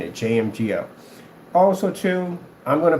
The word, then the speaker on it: JMGO: JMGO, so we get that pronounced right while we're saying it, JMGO.